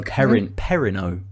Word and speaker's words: Perrineau: Harold Perrineau. Oh no, Perrineau. There we go.